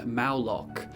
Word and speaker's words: Mauloch: That's spelled M-U-L-U-K, and it is very similar to the aspect of Malakath named Mauloch, acknowledged by certain orcs.